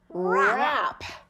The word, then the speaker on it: wrap: Let's read this W-R pattern and the W is our ghost letter. That means it's silent. Let's read it. Ready? Go. - (sounding out phonetically) wrr-ah-p - Wrap.